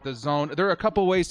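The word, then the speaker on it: DAZN: moved to the Zone I call it dazen because of the way that it is spelled but the Zone there are a couple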